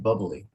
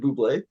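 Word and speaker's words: bubly: I think it's pronounced bubbly. Bubbly because it's because it's Michael Bubé that endorses it. So, I was going to say like isn't it Bubé?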